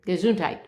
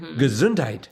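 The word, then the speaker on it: Gesundheit: See, you're saying gazunt with a t. You're not saying it's it's spelled ge s u n d. Gazuntite. Gazuntite. But I I really, you know, lay into the t there.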